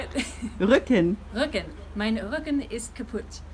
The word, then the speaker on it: Rücken: Rücken.